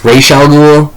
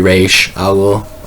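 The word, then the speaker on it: Ra's al Ghul: It's used, as far as I'm concerned, it's probably Raish Al Ghul. I'm pretty sure, but Raz Al Ghul is like the same thing, but it's not.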